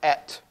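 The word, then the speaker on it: את: And it's pronounced et.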